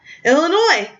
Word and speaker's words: Illinois: I'm even one airline ticket to UM well Illinois mm-hmm no yes is silent as the Sun set across the country